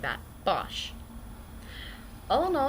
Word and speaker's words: Bosch: or who forgot and yes it is actually pronounced like that Bosch oh know it's been a fairly good week